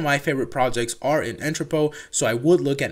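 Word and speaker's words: Entrepot: biggest Marketplace by volume at the moment is entrepo and I know it's built in tripod but it's pronounced entrepo and you can go there by going to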